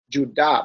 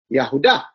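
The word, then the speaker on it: יהודה: Maybe they will use the J, but they would say Judah. But you ask an Israeli or a Jew, they will say Yahuda.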